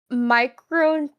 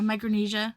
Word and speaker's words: Micronesia: Is it Micronia? Micronia. Yeah, Micronesia. Micronesia. Micronesia. Okay.